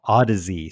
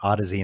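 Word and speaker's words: Audeze: They're called Odyssey, spelled like audible, kind of Odyssey, and they're like $2,500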